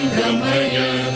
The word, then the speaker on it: gamaya: Asato sad-gamaya, tamaso jyotirgamaya, mrityurma amritam gamaya.